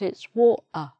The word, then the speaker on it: water: The next one is when there's a letter T often in the middle of a word, but it's not pronounced in the Cockney accent.